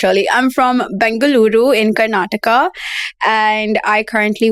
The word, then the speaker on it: Bengaluru: So you want to tell us a bit about how Bangalore, why don't I pronounce that well? Bengaluru.